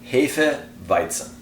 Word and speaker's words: Hefeweizen: pronounced perfectly like that Jefe bison so a zed in German is like a tzed sound but the further south